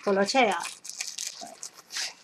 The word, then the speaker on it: Tolaccea: I dug out my notes from Italian class, my dictionary, and also checked with a friend and confirmed the pronunciation. So, Tolaccea.